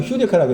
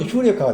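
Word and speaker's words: εὕρηκα: 여기 텔레비에 거기 프로그램 가운데 유레카가 발음 휴레카라고 했잖아요. 유레카가 그 휴리스코라는 발견하다의 완료형이야. 제 기억으로. 그러니까 발견되었다야. 근데 발음은 휴레카가 되는 거예요.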